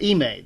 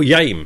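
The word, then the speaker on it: Yime: charge you know smarter than how do you pronounce it emay there's you've got a character called y i m e oh yame how called I pron like lame with a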